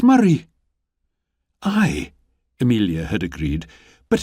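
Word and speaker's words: Moray: Lily up at first she'd copied down the letters carefully m o r a y and she'd frowned but that's not how it's said at all she'd pointed out it's Murray I Amelia had agreed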